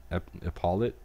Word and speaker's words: epaulet: I think the E is silent. Paulette, epaulet pinned to your left shoulder. I think like the T is silent, so it's like an epaulet or something like that.